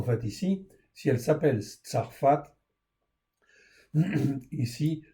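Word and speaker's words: צרפת: Voilà pourquoi la France en fait ici si elle s'appelle Tarfat ici Tsarfat en fait ici avec un pH ou un F comme vous voulez c'est la prononciation en fin de compte qui compte en fait ici et bien en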